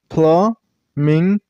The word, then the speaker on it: flamingo: This name has 3 syllables, Flamingo. And while you pronounce this word, use a stress on the middle syllable. I mean on the second syllable. So Flamingo. And while you pronounce the first syllable, you should pronounce it very shortly. Flamingo. You should stress on ming sound.